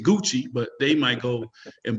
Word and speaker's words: Gucci: they don't even know how to say it's Gucci but they might go and buy something from